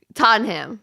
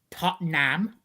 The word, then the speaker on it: Tottenham: Tottenham. Start with that one. Well, that is miles off. It's Tottenham. Yep. Tottenham. You're getting further away again. Wait, say it again. Tottenham. Yeah, it's just so there's two no syllables. Inham. It's just Tottenham.